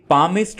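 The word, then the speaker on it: palmist: जो हाथ देखता है आपने याद रखना है कि पामिस्ट में एल को नहीं पढ़ना है एल साइलेंट है ट्रांसलेटर ट्रांसलेटर कहते हैं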